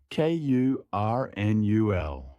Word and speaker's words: colonel: Correct, Kurnul. This is tricky. It's spelled colonel, but we say Kurnul.